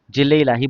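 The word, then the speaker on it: ज़िल्ल-ए-इलाही: जिल इलाही। जिल्लाही बोला जाता है इनको।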